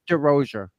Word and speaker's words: Derosier: Is it Derosier? What is it? It's Derosier. Derosier. Okay. Or Derosier. I say Derosier. With the Boston accent, it's Derosier. Yeah, it's Derosier.